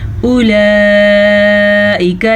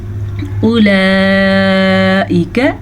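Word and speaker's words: أولئك: उलाइका यरजौना रहमतल्लाह, उलाइका, जब भी वाओ पे कोई हरकत ना हो तो वाओ साइलेंट होती है, वाओ नहीं पढ़ी जाती। अक्सर लोग पढ़ लेते हैं उला, तो ये गलत है। हमने पढ़ना है उलाइका, ठीक है।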